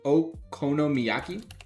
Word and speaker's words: okonomiyaki: Okomiaki. Wait, can you spell it out for me? Yeah. Oki y a k i. Ok. Okonomiyaki.